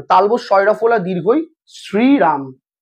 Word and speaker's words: শ্রীরাম: না, তালবস শয়রফলা দীর্ঘই শ্রীরাম, এরা শ্রীরাম উচ্চারণ করতে পারে, এরা দেখবেন শ্রীরাম বলে। আর রক্ত পরীক্ষার সময় যে সিরাম হয় SERUM সেটা আলাদা, সেটা রক্ত রস।